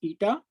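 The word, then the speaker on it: η: two minus eta one so this symbol is pronounced as eta so what is eta so eta one is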